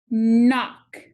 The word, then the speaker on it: knock: sound that they have in common knife knee knock what sound do you hear in knife knee